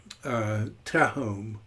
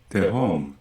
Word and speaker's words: Tehom: You look up this word, tehom, and I'll try to do it in Logos.